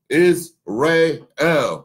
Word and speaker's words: Iysrael: Just like with Iysrael, okay? Iysrael, okay? You see the little hyphens, the little phonetic breakdowns for the pronunciation?